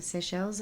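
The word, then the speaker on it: Seychelles: The Seell's affair.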